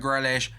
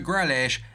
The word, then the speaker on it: Grealish: difficulty, so selling Jack Grealish, it could help that. Now, I've just remembered I've been saying his name wrong again. It's not Jack Grealish, it's Jack Grealish.